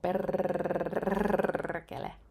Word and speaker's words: perkele: And with the perkele word, just a tip: when you roll your R's, do it plentifully. The more the better. Trust me. Try it and you will feel so much better. You know, perkele.